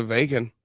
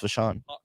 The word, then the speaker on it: Vachon: thought it was Luna Vacon. No, it's Vachon.